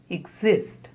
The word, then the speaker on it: exist: Exist. Stress on the second syllable. Exist.